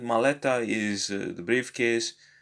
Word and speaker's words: maleta: So the second to last syllable usually receives the stress.